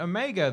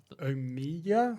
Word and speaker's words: Omega: But yeah, Omega is how she pronounces it. Okay. Not Omega. The Kiwi accent.